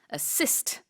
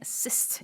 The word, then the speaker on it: assist: 영어식으로 했을 때는 강세가 assist 네. 네, 두 번째 assist 이렇게 들어간다는 거.